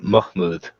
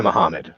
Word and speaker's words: Mahmood: mock mood or yeah Mahmood is it's it's not the Mohammed but everyone just called a Mohammed and I actually took